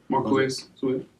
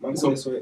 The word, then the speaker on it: Montez Sweat: Yeah, Marquez Sweat, for sure. I didn't say his name right? Montez Sweat.